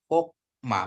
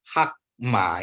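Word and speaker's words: חָכְמָה: Berarti hokma, bukan hakma ya Bapak Ibu Saudaraku, ingat ya.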